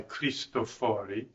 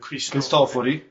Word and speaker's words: Cristofori: the early 1600s, by Cristofori, or is it Cristofori. Cristofori. I always get the accent on the wrong so. Yeah. It's irregular this time. That's why you didn't know it.